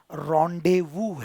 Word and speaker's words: rendezvous: यह एक गुप्त बैठक स्थल है, जो एक फ्रांसीसी शब्द है। इसीलिए इसका उच्चारण रेंडेज़वस है।